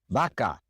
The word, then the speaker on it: vaca: The V in Spanish is pronounced just like the B, vaca, joven, volver.